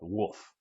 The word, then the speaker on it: Wuphf: one of the characters came up with Wolf, and it's spelled Wuphf, and I encourage you to actually go to YouTube it and look for that video.